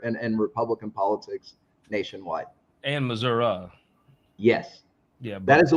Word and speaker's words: Missouri: footprint in Missour in Republican politics Nationwide and Missour yes yeah that is the way you say